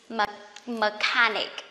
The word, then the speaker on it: mechanic: Can you see that the same CH, but this is machine and this is mechanic, okay?